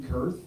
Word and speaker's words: Kurth: As a guy named, I'm trying to be sensitive about Kitty Kurth is pretty easy. It rhymes with earth.